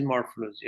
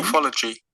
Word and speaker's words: morphology: Morphology. Morphology. Morphology. An American one, the red one, okay? Morphology. Okay. Morphology. So American pronounce R after the vowel, okay?